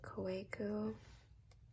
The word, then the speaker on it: Kaweco: So it's the Kaweco. I know some people pronounce it Kaweco, Kaweco. I think in German the W is pronounced V.